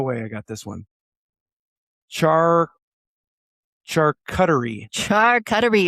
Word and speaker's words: charcuterie: And I was like, charcuterie, meat and cheese board. Why aren't you calling it meat and cheese board? I'm like, because it's charcuterie. Because I took French.